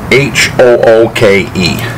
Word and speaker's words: Hooke: And these are by a company called Hooke, H-O-O-K-E. Well, that's how I pronounce it, Hooke.